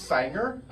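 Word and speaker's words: Saenger: the same theater and she always assumed that it was the singer theater and it was just our accent and when I took her to see an event there and she read how it's spelled she was like it actually is Sanger oh yeah she goes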